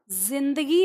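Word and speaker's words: ज़िंदगी: तो अब बताइए ये जिंदगी है या जिंदगी है, पहला या दूसरा? हमने जो लिखा है वो हमारा पहला है यानी जिंदगी लिखा हुआ है, लेकिन इसका सही उच्चारण क्या होता है? जिंदगी होता है, ठीक है।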